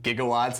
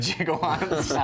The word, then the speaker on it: gigawatts: just so that um he can pronounce it gigawatts instead of jigawatts amazing awesome I'm not